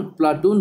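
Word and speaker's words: Πλάτων: प्लेटो शब्द का शुद्ध यूनानी उच्चारण प्लाटून ही होता है।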